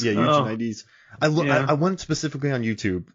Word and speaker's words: Eugenides: Jeffrey wrote this book, I knew how to pronounce his name. Eugenides I think it's Eugenides. Yeah, Eugenides.